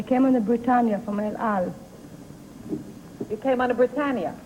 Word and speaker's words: El Al: Number two, the El Al, is that the way you pronounce it? Yes, El Al yes.